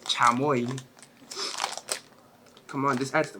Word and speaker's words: chamoy: Some of you call it chomoy. That's not how you say it. Chamoy.